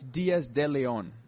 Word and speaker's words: Diaz de Leon: It's Diaz De Leon.